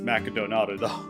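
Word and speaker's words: マクドナルド: stand-in for mcdonald's and i just pronounced mcdonald's how they actually pronounce it in japan which is macadonado oh and translation's the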